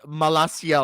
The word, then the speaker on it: Malacia: is his name is malacia or something like that but Dom is uh it's spelled like malakia uh it's not there's no K there but it's close enough all right so all